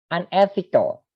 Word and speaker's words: unethical: Unethical, ini perhatikan seperti university, U-nya dibaca U ya, sehingga dia menggunakan artikelnya itu a university.